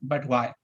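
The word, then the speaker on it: BUTWI: up a company called b-u-t-w-i which when pronounced would be spelled or pronounced as but why and in this company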